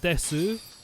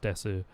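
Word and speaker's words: です: It's spelt desu, but it's pronounced des in a lot of places. Most people just say des, but it's pronounced desu.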